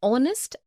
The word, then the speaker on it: honest: also an air an honest an hour because the words air honest and our begin with the vowel sound as the initial consonant h is not pronounced article one we use